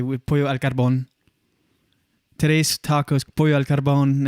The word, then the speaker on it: pollo al carbón: It's pronounced like we as Canadians would say pollo al carbone on this thing, but I would say pollo al carbón.